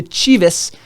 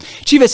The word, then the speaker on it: Chivas: 2012, he was traded to Chivas, USA.